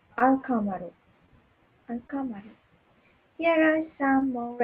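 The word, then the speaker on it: القمر: with the lunar letters example alcamaro sorry the moon is pronounced alcamaru uncommon here are some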